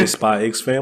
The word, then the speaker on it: SPYxFAMILY: This man made a joke earlier about pronouncing the X. We don't do that here. You mean SPYxFAMILY?